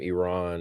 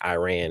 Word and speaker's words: Iran: He kept saying Iran and it's Iran.